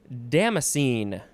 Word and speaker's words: damascene: make art last word damascene damascene or damascene first syllable or last syllable can be emphasized damn scene damn scene